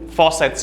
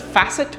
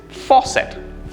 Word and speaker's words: faucet: something where water comes out of like the faucets you have at home or the kitchen or your bathroom right we usually pronounce it as facet this is incorrect the correct pronunciation is faucet for set faucet this is a very commonly